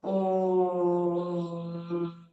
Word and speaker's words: ओम: 70% ओ, और 30 म। ओम, फिर अच्छे से हो जाएगा हमारा।